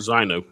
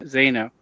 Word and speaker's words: Zino: I think it's Zeno. And not zo. Zeno.